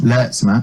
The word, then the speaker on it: Lertsema: Nat Lertsema, or as she asked every MC to pronounce it, Lertsema, who's a fantastic writer, brilliant comic as well.